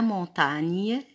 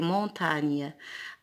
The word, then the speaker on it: montagne: a voyagé à la montagne gn se prononcent ligne avec ses amis arrivé